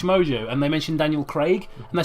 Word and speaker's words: Craig: Why can't Americans say the name Craig? Craig. Craig. Like C R E G. What? What? It's not It's not Craig. Oh my god, it's Greg.